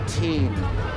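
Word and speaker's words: Týn: Cathedral or the Church of our Lady before teen and the Teen is spelled with a t y n and construction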